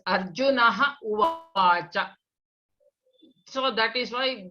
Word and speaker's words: Arjuna: We should pronounce it as Arjuna, give a pass and then say Uvacha. You cannot say Arjuna Uvacha.